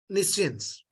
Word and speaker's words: nescience: Nescience, Nescience. N-I, A-N-E, then science. A-N-E, N-E, N-E, S-C-I-E-N-C-E. nescience, Nescience. It is pronounced as nescience.